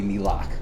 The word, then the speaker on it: NELAC: that slide, but no, the actual pronunciation is indeed supposed to be NELAC.